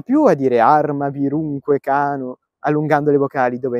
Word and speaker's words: cano: dell arma vunque Cano Come si recita a scuola arma vunque Cano Perché si mette l'accento sulla o di Cano dove c'è il tempo forte e quindi capite che